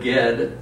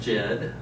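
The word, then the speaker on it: Ged: to pronounce names but get which is absolutely not pronounced Jed he has no TV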